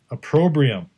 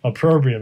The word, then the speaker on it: opprobrium: like killed me when I was trying to pronounce it oh my god a pro briam but now I feel like I'm nailing it opprobrium it's such a weird word if you saw